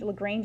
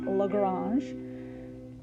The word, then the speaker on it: Lagrange: Lagrange is the English pronunciation. French would be Lagrange.